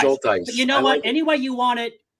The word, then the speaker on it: Schultheiss: If it's helpful and convenient, the way that we do it in my family is shoal, like a shoal of fish. Dice rhymes with dice, so shoal dice.